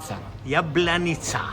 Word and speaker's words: Jablanica: Pronounce it Jablanica. Jablanica.